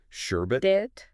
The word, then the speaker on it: sherbet: Like sherbet. Sherbet. People often add an extra R.